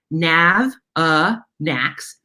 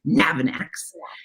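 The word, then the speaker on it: Navanax: animal names to say it's pronounced nav ah nax navin annex and a lot of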